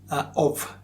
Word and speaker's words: of: important one because most of us go wrong with this. We don't know its correct pronunciation. Its strong form is of and weak form is of. Not f of fan, but v of van.